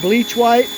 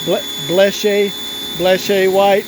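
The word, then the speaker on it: Bleche-Wite: We use this stuff, we call it bleach white. I guess it's pronounced bleche white, but we've always called it bleach white, and it works fantastic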